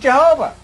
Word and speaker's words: Jehovah: was an H and this I in Latin is pronounced J so it became J H VH and we made it Jehovah wasn't we made it